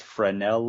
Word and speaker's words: Fresnel: tvs and they're they're known as fred i believe the correct pronunciation is fresnel lens and this lens is